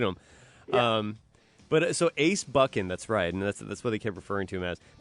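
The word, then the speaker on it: Buchan: I watched this contest Ace bucking Ace it's bucking thank you it's not it's bucking I didn't Adrien buckin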